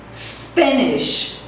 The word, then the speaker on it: Spanish: Então não vamos pronunciar uma sílaba antes do S porque ela não existe, ok?